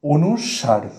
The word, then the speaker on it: অনুস্বার: এটার একচুয়াল যে উচ্চারণটা সেটা তাহলে কি দাঁড়ালো? অনুসার।